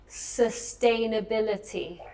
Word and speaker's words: sustainability: Sustainability. Sustainability. Because you say it very much sustainability, because in Spanish it's sos. But in English it's the U, but it's with my sound no?